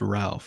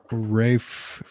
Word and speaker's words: Ralph: uh his it's his first name is not pronounced Ralph it's like Ray Ray fiend yeah for conclave and Sebastian Stan